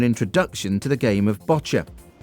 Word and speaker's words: boccia: give you an introduction to the game of botcher spell b o c c i a but pronounced botcher it's an easy tolearn game for anyone and